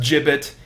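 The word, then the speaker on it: gibbet: you see a disused give it or give it I got to look that up okay so it's pronounced jib it and it's those things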